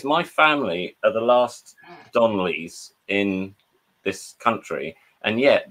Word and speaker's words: Donley: Is it pronounced Donley or Donnelly? It's just Donley. Yeah, it's just Donley. No, you just put an extra syllable in there. It's not Donnelly.